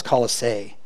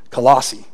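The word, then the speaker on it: Colossae: the church in colossi I always thought it was colisee but I did a lot of pronunciations online and they all said colossi weird is it if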